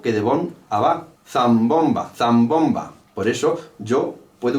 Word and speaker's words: zambomba: Zambomba, zambomba, zambomba, zambomba, zambomba. Hay una particularidad con el acento 2, que es el ba, zambomba. El acento ba es un rebote natural de la sílaba bon, zambomba, zambomba, zambomba.